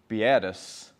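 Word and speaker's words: beatus: that comes from the the word in latin which i'm going to pronounce biatus b-e-a-t-u-s meaning blessed which each of the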